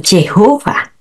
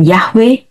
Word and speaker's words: Yahweh: hati Tuhan empunya nama ada juga yang mengucapkannya dengan yhova atau Jehova ada yang mengucapkannya dengan yahwe dan untuk semuanya ini saya tidak melarang jenis-jenis pengucapan ini di kalangan Kristen anda memiliki kebebasan dalam pengucapan namanya lihat nih Bagaimana cara